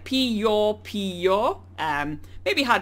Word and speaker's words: Piopio: how to actually pronounce Pio Pio so it's pronounced like pee your pee or um may be